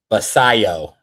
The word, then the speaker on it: Basallo: Wait, I think Snacks gave us a correct pronunciation in here. Let's make sure we say it right. Basallo.